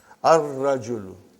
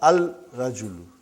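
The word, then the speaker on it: الرَّجُلُ: Ar-rajulu. Huh? The man. Huh? Not al-rajulu. Huh? It will be wrong to say al-rajulu. It will be ar-rajulu. We won't pronounce lam. Why? Because it is a sun letter.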